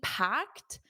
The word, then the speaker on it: packed: So, to be packed is the same as to be busy. It means that there are many people in a certain area or location. Notice the pronunciation. This ed is a t, packed, packed, packed around lunchtime.